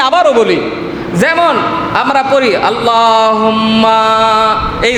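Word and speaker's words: اللهم: আল্লাহ, এই আল্লাহ শব্দের আগে যদি জবর থাকে, বুঝে নিয়েন, আল্লাহ শব্দের আগে জবর যদি থাকে, তাইলে মুখটারে পুর কইরা, মোটা কইরা আল্লাহ শব্দটা উচ্চারণ করা লাগে। যদি কেউ বারেক কইরা পড়ে, মানে পাতলা কইরা পড়ে, তাইলে গুনাহ হবে।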